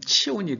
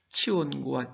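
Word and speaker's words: צִיּוֹן: 그러면 이 시온은 히브리식으로 발음하면 치온이 됩니다. 치온과 치운.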